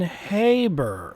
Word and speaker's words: Haber: First, the name is pronounced with a long A as in Haber.